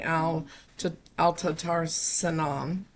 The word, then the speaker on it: Al-Tatar Sinan: Let's go ahead and check in on the case regarding Al-Tatar Sinan's case. That's fine. Apology. How do you say it, sir? Al-Tatar Sinan. You said it right. You said it correctly.